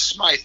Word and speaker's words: Smyth: Now, you spell your last name with a Y, Frank. Am I pronouncing it the right way? It's Smyth, actually. Oh, it's Smyth.